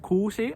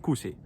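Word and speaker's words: kuusi: for me it was really hard to pronounce uh long letters for example how this um i i remember how it was in sick talk when i say not kushi i said kusi and people like do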